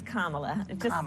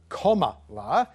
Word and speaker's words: Kamala: for me please it's kamala yeah just think of like a comma and add a lot okay which had a